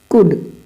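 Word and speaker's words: could: आ रहा है तो हमारा एल क्या होगा साइलेंट होगा यहां देखो कुड टोन आपकी बेहतर होनी चाहिए मैं फिर कह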